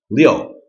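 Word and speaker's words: 六: are in it six so that's Leo Leo fourth tone Leo think of Leo the Lion it's kind of a mean lion so it's Fourth tone Leo and then finally we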